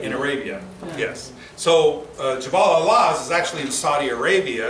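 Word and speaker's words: Jabal al-Lawz: So Jabal al-Laz is actually in Saudi Arabia.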